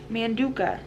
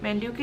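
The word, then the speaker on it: Manduka: it's a Manduca you Manduca that's how you say it man Duke a yoga mat and I also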